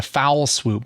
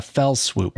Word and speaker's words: fell swoop: kind of in one Fell Swoop I think is how they say it I want always want to say a foul swoop but it's not it's a Fell Swoop I think it's a